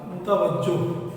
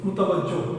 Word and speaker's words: متوجہ: ساتھ دیکھتا ہے تو اس کا مطلب یہ زیر کے ساتھ نہیں ہوگا بلکہ پیش کے ساتھ ہوگا، متوجہ، متوجہ، اس کا تلفظ ذہن میں رکھیے گا۔ چار سو چاروں